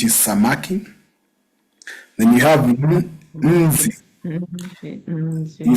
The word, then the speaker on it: nzi: If you find it hard, you can add an I, a silent I, which is E, before. When you're doing your pronunciation, you can say nzi. But that E should never appear in your writing. The writing is nzi, but you can put an I to say nzi if in case you want to make it easier to pronounce it.